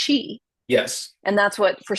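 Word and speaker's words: qi: A lot of people know the Chinese version, which is pronounced Chi, Yes.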